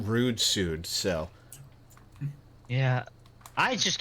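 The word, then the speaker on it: Ruudsuud: Well, there's one called R-U-U-D-S-U-U-D, and I think I prefer to pronounce that rude suit, so.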